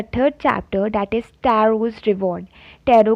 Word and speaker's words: Taro: ये Japanese story है इसलिए इसको टैरो प्रोनाउंस करेंगे।